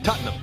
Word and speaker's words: Tottenham: Just remember, it's one syllable. Tottenham.